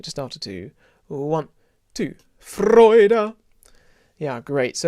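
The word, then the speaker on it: Freude: so it's i suppose if i was to spell it in english you the f-r-o-i-d-e-r maybe the main thing is the vowel is an oi not too kind of oi kind of from east london but uh freud nice round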